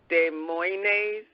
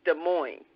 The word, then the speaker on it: Des Moines: I think you said Des Moines, but it's Des Moines, Iowa.